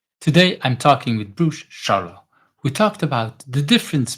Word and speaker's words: Scharlau: Bruce Charlau, is that how I should pronounce the name? That's correct. Yeah, Charlo. Yep.